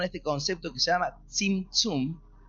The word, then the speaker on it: Tzimtzum: ¿Oyeron hablar alguna vez del Tzimtzum? T-Z-I-M, T-Z-I-U-M. Tzimtzum. Así creo que se pronuncia algo así.